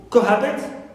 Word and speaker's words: cohabit: Cohabit on ha, not on co.